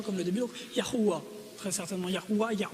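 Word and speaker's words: Yahweh: Dieu au complet YH la prononciation très certainement serait non pas Jéhovah mais serait très proche de yahua vous avez entendu Yahoué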